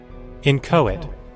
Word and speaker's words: inchoate: Inquate? Inquate? Shoot, how was that word pronounced? Inchoate.